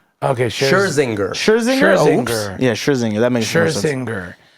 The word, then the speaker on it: Scherzinger: pronounce her last name? Zinger. Okay, Scherzinger. Oops. Yeah, Scherzinger.